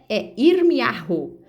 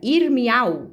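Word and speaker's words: ירמיהו: Então, muitos pronunciam Irmial, né, suprime essa vogal. Mas o professor, né, ele me explicou que na linguagem coloquial, eles suprimem essa letra aqui. Mas na linguagem formal, né, você pronuncia ela fraquinho.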